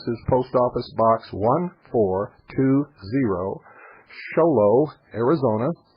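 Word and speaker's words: Show Low: post office box 1420 sholo Arizona sholo is spelled exactly like it sounds two words show and Low sholo Arizona 859 901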